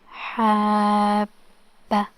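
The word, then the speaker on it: حَبَّ: The shadda means the letter will be pronounced doubled, okay, so we will pronounce ba 2 times, like Italian, okay.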